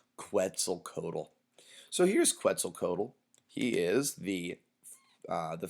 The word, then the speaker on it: Quetzalcoatl: the first time to actually master how to pronounce Quetzalcoatl Codel he is the the feathered serpent God